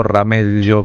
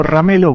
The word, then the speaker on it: Ramelo: ¿Se pronuncia Ramelo o Ramello con el? No, Ramelo porque es italiano.